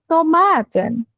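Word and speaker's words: tomaat: Tomat. Tomat. A-nya dua. Tomat.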